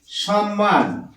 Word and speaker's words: সম্মান: সাথে ম যুক্ত আছে এটাকে আমরা কি বলি সম্মান আমরা এই ম টা উচ্চারণ করছি না এই ম টাকে ডবল